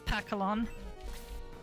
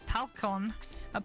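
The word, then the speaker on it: Pacalon: Okay, so it is Pakalon. I've been saying it wrong my whole life, I think, because I used to always call it Palcon, or Palicon.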